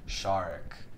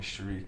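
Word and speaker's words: Sharique: my name is spelled s-h-a-r-i-q-u-e when you read it off the book you think it's shariq in english but it's pronounced shark oh yeah so like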